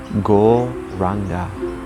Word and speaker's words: Go Ranga: So we'll be adding the mantra Go Ranga, divided into 4 syllables. Go Ra Ang Ga.